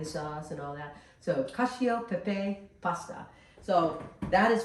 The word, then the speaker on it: cacio: Yeah, cacio and pepe.